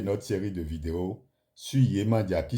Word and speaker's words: Yemanja: Bonsoir chers abonnés, nous allons continuer notre série de vidéos sur Yemandia qui s'écrit Y e M A N J A